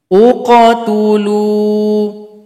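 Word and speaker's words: اقتلوا: Kalau huruf ta-nya dhamma, maka hamzah wasol u bunyinya. Nah, di sini u. Uqatulu.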